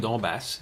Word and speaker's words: Donbass: prononcé. Non, le Donbass, c'est ça.